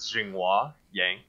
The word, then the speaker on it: Zhenghua Yang: my that I guess the Americanized pronunciation of my name is string hua yang and but but it's